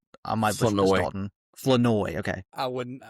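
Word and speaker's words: Flournoy: Flanoy, okay. I would not have said that correctly. If you listen to the broadcast, that's how they pronounce it. Flanoy.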